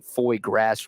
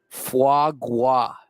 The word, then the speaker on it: foie gras: By the way, apparently I'm pronouncing foie gras wrong. Someone says it's foie gras.